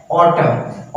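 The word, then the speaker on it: autumn: ऐसा साइलेंट हो जाएगा एक और एग्जांपल है ऑटम ऑटम पतझड़ का समय होता है तो उसे हम ऑटो कहते हैं इस एन को बिकॉज साइलेंट हो जाता है फ्रेंड्स फ्रेंड्स आज के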